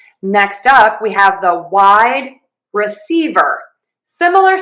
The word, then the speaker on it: wide receiver: We're going to have 4 syllables instead of just the 3. So we have wide receiver. Wide is going to get our primary stress, and secondary stress will be on C.